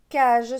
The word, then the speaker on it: cage: jeu ici on a le mont cage cage se prononcent jeu le g se prononcent jeu parce qu'il ya le juste après en dessous on a